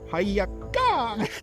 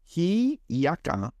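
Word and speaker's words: Hiʻiaka: Hayaka! Sorry to our Hawaiian listeners. It is pronounced Hiyaka. Oh yeah, whispered. Hiyaka, the sister of Pele, goddess fire.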